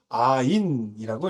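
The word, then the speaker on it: עין: 영어의 Y라고 쓰면 되고 이것도 음가가 이응에 해당하는 음가를 갖고 있습니다. 그래서 아인이라고 읽으면 되고요.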